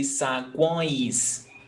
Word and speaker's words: saguões: Because if you separate them, it would be saguões. Okay? It sounds like it almost has like an N in there. Sagoins. It's because it's nasal. Oins. Sagoins. Saguões. It's nasal sound.